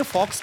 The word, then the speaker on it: faux: और दिखाइए भाई, ये फॉक्स की सीगा, FAUX, what is that? X को प्रोनाउंस ही नहीं करते. फॉक्स, फोफर. Fofa. तो एक्स नाम नहीं लेना उसका, ना, साइलेंट है वो.